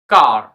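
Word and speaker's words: car: লেটারটি থাকবে তখন এর উচ্চারণ হবে এ এর উচ্চারণ হবে আকা আ তো আমরা এক্সাম্পল সহ বুঝি সি এ আর কার এফ এ আর কি হবে তোমরাই বল হ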